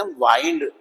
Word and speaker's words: wind: तो घुमाना वाइंड है, और हवा की बात करें तो विंड है। दोनों एक ही वर्ड है, एक ही स्पेलिंग है, लेकिन कहाँ यूज होगा इस बात पे डिपेंड करेगा कि उसकी प्रोनाउंसिएशन क्या बनेगी।